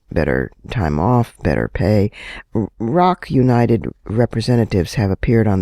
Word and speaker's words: ROC: Now, how about some news you can use Rock United, that's spelled ROC, United.